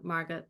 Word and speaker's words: Margot: And eventually she and her sister, Margot, or Margot in the correct German pronunciation, wound up in Bergen-Belsen, where they both Mhm.